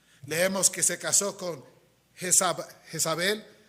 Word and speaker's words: Jezabel: Leemos que se casó con Jezabel, que realmente debe ser pronunciado Jes Baal.